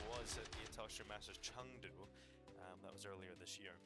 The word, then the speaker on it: Chengdu: It is a Chengdu. It's not a Chengdu. No, but it is spelled that way.